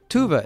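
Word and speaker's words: Tove: Johnson Moomin moving mcbird's but I'm sure I butchered her name Tovah Tobin Tuva Tuva is how you said the lady who's the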